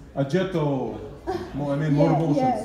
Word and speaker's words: Oggetto: a little bit and it is supposed to be pronounced like this ajetto i mean yeah it's